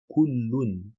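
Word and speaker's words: كلٌّ: Ici, le mot à la base, c'est kullun, kullun. Donc il faut bien que j'entende kullu, et après, on passe sur le noun non vocalisé, et on effectue le al-irfa.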